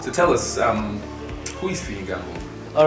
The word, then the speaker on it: Fiyin Gambo: All right, my name is actually pronounced Fiyin Gambo. That's how my name is pronounced. But because of branding, in school, we got that Fiyin Gambo. Actually, it's not pronounced that way. Yeah, so Fiyin Gambo.